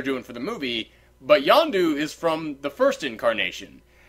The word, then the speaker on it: Yondu: Yandro. I have to see Yondu? it. I have to see it written down, but I know how to say it. I just have to see it written down. Yondu.